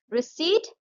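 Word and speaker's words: receipt: रिसीट इसमें P silent है।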